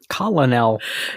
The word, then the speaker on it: colonel: Colonel. Yeah. Colonel. It came through Italian as colonnello or column of soldiers. Interesting. But for some reason we say colonel.